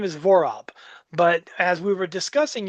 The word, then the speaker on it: Vorob: Vorob, Vorob. It sounds like, to me, it seems easy, but it's people. I've been Vorob, Vorub, Vorab.